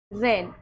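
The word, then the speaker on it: reign: जैसे रेन। अब इसको रेगन नहीं पढ़ना। यह है रेन।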